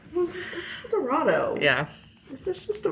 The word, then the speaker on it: El Dorado: y but everyone said elor I know it's El Dorado I think am I wrong no it's spelled El Dorado right El Dorado yeah is this just a bunch of people